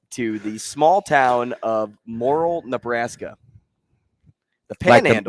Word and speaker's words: Morrill: Hey, this story takes us to the small town of Morrill, Nebraska. The Panhandle. Like the mushroom, or a different Morrill? Morrill.